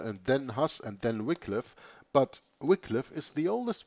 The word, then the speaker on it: Wycliffe: this very day john wickliffe some also pronounced it wycliffe i pronounce it wickliffe known as the morning